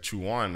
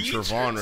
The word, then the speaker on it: Trevon: She was going down in attendance and she said Chuan. I said, "Fuck is Chuan?" Then I said, "Miss, can you pronounce the last name real quick?" And she said, and I'm like, "Oh fuck, it's definitely Trevon."